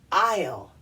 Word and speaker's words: aisle: the first word is the A and the I together should make the long a sound but it's not it's pronounced I'll I'll yeah what's an